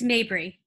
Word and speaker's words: Mabry: uh mabry am i pronouncing your last name right mabry uh close it's mabry okay mabry grew